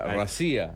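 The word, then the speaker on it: Россия: Mosváb y Rusia se pronuncia racía.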